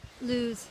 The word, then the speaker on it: Lewes: you you're in lewes how did you pronounce Lewis lose lose ya letter offer